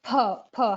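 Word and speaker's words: 𑆥: It is per. How we do it in Hindi, per.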